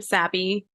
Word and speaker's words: Sabi: And you said it right the first time, Sabi. I'm used to both ways, so it's Yep. okay. It's either like you have the like more Americanized A the sound or the super Latina like Sabi,